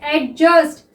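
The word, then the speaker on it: adjust: अब नेक्स्ट देखिए एडजस्ट, तो एडजस्ट में क्या है स्टूडेंट, यहाँ पे हमारा डी साइलेंट रहता है, क्लियर।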